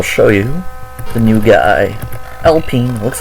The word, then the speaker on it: Alpine: I know you could pronounce it like Alpine, but if you actually know what you're talking about, it's Alpine.